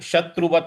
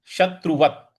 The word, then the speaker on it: शत्रुवत: वरते तात्मव शत्रुवत शत्रुवत यहां पे जो त है उसके बाद हलंत है तो शत्रुवत नहीं बोलना है शत्रुवत इस प्रकार से वरते तात्मव शत्रुवत वते तात्मव शत्रुवत इस प्रकार से इसका उच्चारण होगा पूरा पठन करते हैं।